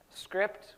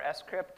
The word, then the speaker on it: scrypt: bcrypt, script, or scrypt, depending on how you want to pronounce it. Heard it said both ways.